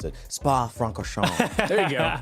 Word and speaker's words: Spa-Francorchamps: And I got to say this just because I'm learning to pronounce it. Spa-Francorchamps. There you go. Spa-Francorchamps.